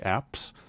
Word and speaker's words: apse: So the back round portion of the church is called the apse, which is funny because it rhymes with ass, so that's easy to remember.